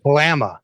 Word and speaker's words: Kalama: And we recently after the Kalama meeting, Kalama, I always say it wrong. Kalama, get it right one of these times.